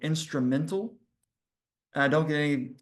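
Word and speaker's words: Instrumentl: use it, is called Instrumental. And I don't get any kickback for referring you to this site. It's spelled instrumental, but at the end it's MENTL. So it's not instrumental AL at the end.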